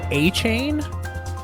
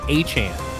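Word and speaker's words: Achane: dolphins are running back Devon is it a a Caney so I I thought it was a chain like the rapper 2 Chains but it's actually a Chan how all the experts have been pronouncing it Devon a Chan went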